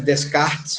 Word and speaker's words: Descartes: A gente escreve Descartes, mas a pronúncia é René Descartes.